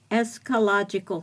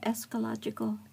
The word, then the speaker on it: eschatological: Eschatological fulfillment. You ever heard that, eschatological? I've heard of eschatology. No, this is eschatological. Okay, there's a T in there.